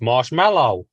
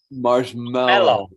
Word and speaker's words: marshmallow: look at the packaging it's marshmallow marshmallow mellow that's weird I've never noticed that I thought it was m-e-l-l that's interesting PJ you